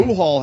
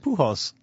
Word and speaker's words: Pujols: That's not how you say his name. Pujol. He had a 3-homer game like fucking Reggie, right? Yeah. Fuck him. He's very good. How do you say his name? Pujols. Oh, Pujols. Like right. Pujols. Yeah, not Pujols. Pujol.